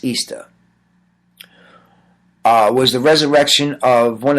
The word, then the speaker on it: Ishtar: Ishtar, which is pronounced Easter, was the resurrection of